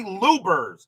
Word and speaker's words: Luebbers: Louis Cardinals is Larry Lubers.